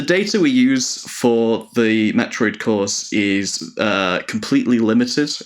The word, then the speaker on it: Metroid: One thing I'm wondering about the language, I noticed that um they pronounce Metroid as like Moth read.